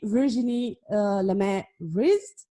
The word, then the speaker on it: Virginie Lemay-Vriesde: My name is Andrada, and we have our guest for today, Virginie Lemay-Vriesde. I do hope that I pronounce the name well.